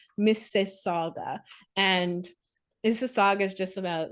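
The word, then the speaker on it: Mississauga: how to pronounce it I was like Miss Saga s and they were like no it's Miss Saga and I had to say it many times like to get it right Miss Saga and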